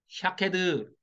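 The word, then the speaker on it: שקד: 아몬드 나무 가지 가 히브리어 발음으로 샤케드예요 그니까 자음만 있으니까 시옷 키역 디 것이죠 샤케드 그니까 샤케드 딱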